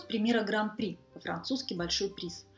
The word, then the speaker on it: Гран-при: Вы видите, как пишется по-французски, а в связи с особенностями французского произношения «д» и «х» в конце данных слов не читаются. Поэтому и в русском языке мы знаем выражение «гран-при».